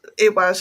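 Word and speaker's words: Eihwaz: know within that iwaz that's iwaz as well but it's also known as o um which is that's spelled e i h w a z rather than that one's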